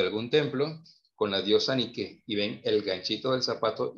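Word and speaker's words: Νίκη: en griego es victoria está mal dicho nike nike y hay que pronunciarlo como es ni que indique significa victoria cuando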